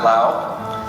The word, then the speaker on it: Lao: idea never heard of the country of Lao before and that is how you pronounce it Lao and so we thought